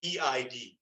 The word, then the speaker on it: Eid: So E-I-D, right? If you want the English word, I might pronounce it with a guttural I sound or E sound at the beginning, Eid.